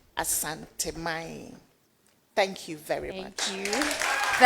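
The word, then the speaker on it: Asante: And so let us give it the full um detail of the pronunciations. Asanti.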